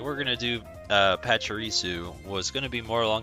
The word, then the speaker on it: Pachirisu: today we're looking at pachirisu i believe that's how they pronounce it the anime and apparently